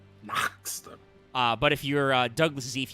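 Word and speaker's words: Nachster: And I think it's got an umlaut over the A, so I think you are supposed to put a little in there. Naxter.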